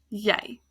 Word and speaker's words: jy: And then jy, you. It's the same y sound, even though it's a J and a Y, because the J in Afrikaans is pronounced as a y sound. Jy.